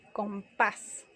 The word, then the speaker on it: compás: Por ejemplo, caracol o compás. Compás termina en S y recae el acento en la A.